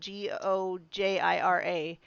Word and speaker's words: Gojira: shinji hijuchi shin gojira gojira that's why they say it like that they're not actually just totally messing up our language that's actually what they call them we're such jerks for